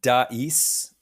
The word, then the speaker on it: dais: Yeah, I think so, because it's pronounced in Canadian English, and I think American too, we call it a dais.